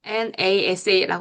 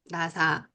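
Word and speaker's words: NASA: 나사. 네이토 등은 영어의 음소 배열에 부합되기 때문에 하나의 단어로 발음해요. 그래서 nas라고 안 하고 나사, nat라고 안 하고 네이토라고 발음한다는 거죠.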